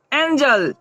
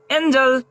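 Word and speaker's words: angel: ए एन जी ई एल, ए एन जी ई एल, यहाँ जी के बाद हमारा क्या है, ई है, तब यहाँ जी की ध्वनि क्या होगी, ज होगी। तो इसे हम लोग क्या पढ़ेंगे, एंजल।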